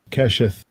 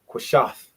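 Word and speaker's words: קשת: Kesheth. Keshith. Well, Keshith. it'll be two pronunciations, which will just be two syllables, three syllables: kwa, sha, and tha. Kwashath, kwashath. So kesheth is very good.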